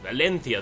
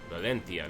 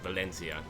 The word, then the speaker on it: Valencia: they've arrived in Valencia Valencia that is the correct way to say it you know Valencia not Valencia um and we're going